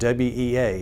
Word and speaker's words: WEA: has a capability called WEA. It's Wireless Emergency Alerts. Some folks pronounce it WE.